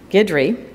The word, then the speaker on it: Guidry: So the three people on our panel besides Patty are going to be Phil, and I always pronounce this wrong, Guidry. So the U isn't really there.